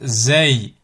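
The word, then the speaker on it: زاي: Ensuite, Zay, Zay, Zay, comme Zay, Zaytoun, Zaytoun. Là aussi, au niveau de la transcription, vous pouvez bien écrire Z, A, Y.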